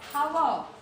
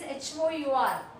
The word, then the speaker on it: hour: Here hour. Actually spelling is H-O-U-R, but pronunciation is hour. Hour. A is silent. Sorry. H is silent. In hour, the spelling is H-O-U-R, but H is silent.